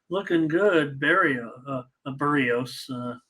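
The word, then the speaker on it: Berríos: good Barry a a burrios I should try to say it right I have just always said Barrios and uh I know it's burritos uh solo owes money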